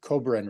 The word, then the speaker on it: Kobren: for me too uh your last name Cobrin right is that how you pronounce it okay perfect toughest part of the